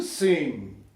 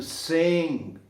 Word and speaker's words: sing: To sing, olha só, não fala esse G, né? To sing, quase nada no G.